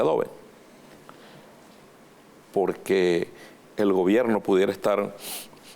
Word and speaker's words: Adobe: Así se pronuncia, Adobe.